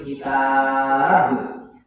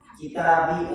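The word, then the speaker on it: كتاب: Min ahlil kitab, ya. Kalau di kitabi, apa seperti di kitabi, bi-nya dibaca, jangan. Ya, jadi min ahlil kitab.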